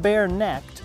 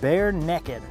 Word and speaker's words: Bare Neck'd: Now this product is actually pronounced not bare-necked like I thought at first, but bare-necked.